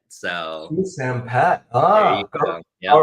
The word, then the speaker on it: Souksenphet: So think of the word like soup, like a chicken noodle soup or tomato soup, and the name Sam, like Sam I am, and then like a pet cat or a pet dog. So you pronounce it Souksenphet.